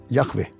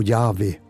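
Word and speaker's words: Yahvé: ortodoxos hoy no pronuncian el nombre Yahwe o Yahwei, pero mejor dicho, Yahwe.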